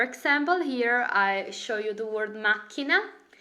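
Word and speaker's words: macchina: here I'll show you machina machina remember dice the H in Italian is mute is silent so you do not need to pronounce the H the akka so machina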